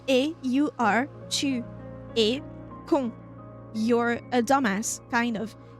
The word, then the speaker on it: con: The very rude version of "you're an idiot" or "you're a dumbass" is con. Tu es, you are, tu es con.